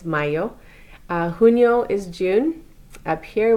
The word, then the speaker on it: mayo: I know it looks like Mayo. It's not Mayo, it's Mayo.